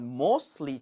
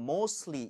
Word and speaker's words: mostly: I use it for email, but mostly. 이 부분은 자, mostly라고 하는 부분을 mostly라고 읽어서는 절대 안 돼요. 오케이. 자음이 세 개 연속으로 이렇게 발음이 나와버리면 가운데 자음을 탈락시키는 게 대부분이에요.